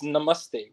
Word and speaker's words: namaste: it correctly yeah it's namaste which is like hummus like and then the t is flat it's like i don't